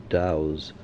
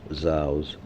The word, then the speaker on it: dhow: They were almost certainly of the class of vessels called Dows and perhaps pronounced zhous with which the Red